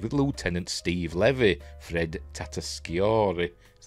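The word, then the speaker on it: Tatasciore: in the cave with Lieutenant Steve Levy Fred tatori is how you pronounced that he voices one of the other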